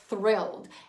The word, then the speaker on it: thrilled: We need to do that TH sound. So just to recap, remember, tongue, tip of the tongue behind the upper teeth.